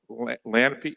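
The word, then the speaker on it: lagniappe: It's Lanapy, like it's in New Orleans, when they add a little something extra onto the food. It's spelled Lagnapy or something like that, but all right, okay.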